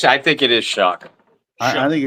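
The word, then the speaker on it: Shough: How I think it's I think it is Shock. I think it's shock. It's It's spelled Shia to me. But they call it They say Shock.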